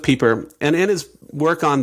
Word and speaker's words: Pieper: Catholic Theologian named Joseph peeper I think that's how you say his name it looks like Piper but I think it's Joseph Pieper and in his work